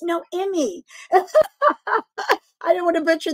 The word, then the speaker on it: Noemi: Naomi. I always say it wrong, so say it for me. No, it's like say no, Noemi.